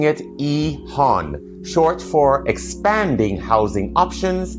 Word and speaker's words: EHON: Quick note when I say Ehan I'm pronouncing it Ehan short for expanding housing options in neighborhoods.